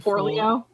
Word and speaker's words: Forleo: Marie, how do you pronounce her second name? Forleo.